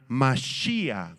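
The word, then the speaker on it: מָשִׁיחַ: Esta palabra Mesías es la palabra hebrea Mashiach, con acento en la I y H al final.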